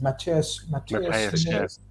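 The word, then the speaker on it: Matheus Nunes: Mateus Nunez.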